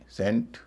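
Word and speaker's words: saint: लंबा वाला ए ना कि ऐ।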